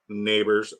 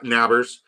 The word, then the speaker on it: Nabers: got CMC Pard wad neighbors na nabers so I realized SLE Ball's issue isn't like he isn't that he's intentionally mispronouncing it it's the vowel a cuz I asked him